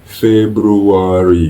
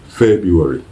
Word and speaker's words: February: dit-on février en anglais ce n'est pas februar comme on l'entend beaucoup le dire mais c'est beaucoup plus Febuary Febuary febru February ok